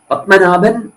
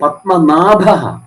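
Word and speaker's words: പത്മനാഭഃ: നാഭിയിൽ ഉള്ളവൻ ല്ലേ പത്മനാഭഹ പരും പലരും പത്മനാഭ പത്മനാഭൻ എന്ന് പറയുമ്പോൾ എന്താണ് ശരിയായ ഭക്തൻ എപ്പോഴും വന്നത് പത്മനാഭഹ എന്നാണ്ല്ലേ ആ ഉച്ചാരണം ശ്രദ്ധിച്ചിട്ടുണ്ടോ പത്മനാഭ പത്മനാഭൻ പരും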